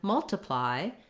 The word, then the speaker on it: multiply: And then in multiply, we only have first syllable stress. The TI syllable is unstressed, so it sounds like an I or even like a schwa. Multiply. So you really want to be short and reduced.